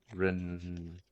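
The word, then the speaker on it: Rand: because she knows that Ren how do I pronounce again ran is a ren yeah no not re rain rain the other one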